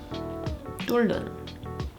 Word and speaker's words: 뚫는: and the 리을 Hieut, when this is followed by a ni은, then the Hieut is silent. Again, let's look at the examples. This word would be pronounced as 맞네. 맞네. It's like the hieut was never there.